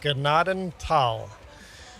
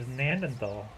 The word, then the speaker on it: Gnadental: a way of putting pronounced Gnadental in the description of the map next time. Google says that's how it's pronounced. Google is very, very wrong. Apparently. So I got to redo my video now, huh? Yes. Gnadental. If there's any silent letters, it's the H. Don't pronounce the H.